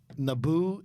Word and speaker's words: Naboo: do you correctly pronounce Naboo and Dooku it's a good question its neighbor Naboo its neighbor and it's Dooku so now you understand